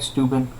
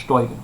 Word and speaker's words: Steuben: Okay, it looks like Steuben, but pronounced Steuben, right?